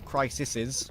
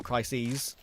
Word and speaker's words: crises: the world have had crisis crisis crisises or crises, that's how you say it, of confidence over their career.